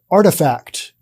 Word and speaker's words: RTFKT: something different and not appropriate it's not it's pronounced artifact and they bought that for an undisclosed amount